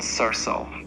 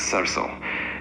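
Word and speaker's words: सरसों: In Hindi, mustard is called sarso, pronounced as sarso.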